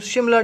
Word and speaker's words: शिमला: अच्छा, बात को आगे बढ़ाते हैं, और ये जो शिमला डिपुटेशन है या शिमला डिपुटेशन है, ये दोनों तरह प्रोनाउंसिएट होता है।